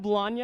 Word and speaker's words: Bologna: Alright, my name's Bologna, and it's Bologna like lasagna, because the next time